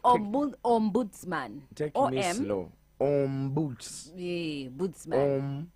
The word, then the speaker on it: ombudsman: are dealing issues of corruption called busman yes Ombudsman pronounce it well like Ombudsman take me slow OMS yeah Bo om boots